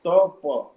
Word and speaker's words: tapa: At first, there was only sound vibrating the word tapa, tapa, 2 syllables, tapa.